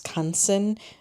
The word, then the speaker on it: Canson: I got the name wrong. I think I said something else, but it's Canson.